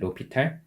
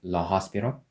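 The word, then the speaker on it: l'Hôpital: I think my pronunciation was not good. Like, it'll be in English. In Korean, we call it l'Hopital. But as far as I know, in English, it's like something like la hospital.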